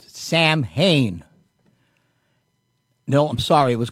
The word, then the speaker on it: Samhain: The name of it was Samhain, but it's spelt as Samhain.